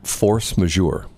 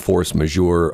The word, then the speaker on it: force majeure: Force majeure.